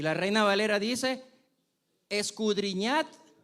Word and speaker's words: escudriñad: Y la Reina Valera dice, escudriñad, ahí tiene una D que se nos hace súper difícil pronunciarla, pero esa D tiene una razón de ser.